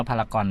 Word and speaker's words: พารากอน: อ่า ใช่ ครับ เ ต้อง อ่าน ว่า พารากอน เนี่ย สยาม พารากอน เรา